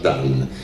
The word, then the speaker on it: Dun: sono quasi tutti crollati, si chiamano Dan, scritto Dun, ma si pronuncia Dan.